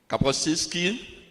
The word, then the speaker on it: Kapuscinski: How do you pronounce this? Kapuscinski.